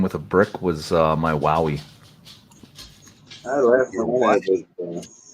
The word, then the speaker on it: Huawei: a brick was my Wowie. I left Your one what? A Wowie phone. The fuck's the Wowie phone? Had a speed check for it. Some people pronounce it Huawei. How it's spelt.